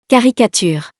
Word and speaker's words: caricature: caricature, It's pronounced like the K letter, because it's followed by the O letter.